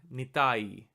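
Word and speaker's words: निताई: If you say the word correctly, you'll see that there are actually 3 syllables. Ni, ta, and I. Nitai. Nitai.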